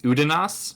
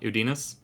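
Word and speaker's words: Udinaas: case to be made that it's udas not udinus but uh well that's how ericon pronounces it right UD pronoun it udas okay I will switch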